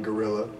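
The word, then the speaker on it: Guerrilla: by the way yeah it's gorilla spelled g-u-e-r-r-i-l-l-a I am I am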